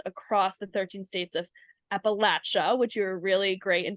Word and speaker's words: Appalachia: And so Trisha, you track opioid settlement developments across the 13 states of Appalachia, which you're really great in telling me that I how to pronounce that, Appalachia.